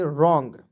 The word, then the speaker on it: wrong: उसी प्रकार देखिए WRONG, तो पढ़ेंगे रॉन्ग, क्या पढ़ेंगे? रॉन्ग। अब रंगने वाला रंग नहीं पढ़ेंगे, ठीक है। डब्लू को साइलेंट यहाँ पे करते हैं।